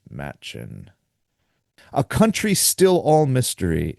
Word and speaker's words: Machen: from an Arthur Machen, and I hope that's how you pronounce it, because I guess it could also be Macon, but that would really mess me up, because I've always thought it was Machen.